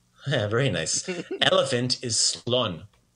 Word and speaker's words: slon: go elephant is a slon very good slun slone got it so not sloan so maybe make that n sounds quicker better way better and then we got